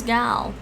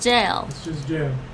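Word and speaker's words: gaol: i thought it was gal it's a dated spelling of jail are you sure really yeah it's just jail really jail wow i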